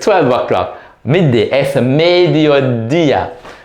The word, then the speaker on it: mediodía: Es mediodía. Notice the accent on the I. So you not on the first one, not on the dio, but the dia. Mediodía.